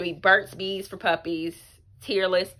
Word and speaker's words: Tearless: It's gonna be Burt's Bees for Puppies Tearless. Apparently this is pronounced tearless, as in it's not tearing the strands of hair/fur or whatever.